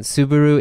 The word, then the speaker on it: Subaru: By the way, for those who don't understand his pronunciation, Subaru is Subaru. Yeah, but you don't say Subaru. Yes, it's Subaru.